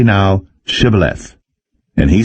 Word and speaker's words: shibboleth: nay then said they unto him say now shibboleth and he said sybileth for he could not frame to pronounce it right then they took him and